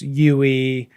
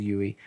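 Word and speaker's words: Yueh: with his different teachers, Yui, and who actually, when I was reading, I just pronounced looks as like a Yu, Klingon. but I guess it's Yui.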